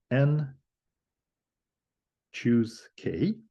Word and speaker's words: n choose k: n minus K factorial this number is denoted this way is pronounced n choose k and is called the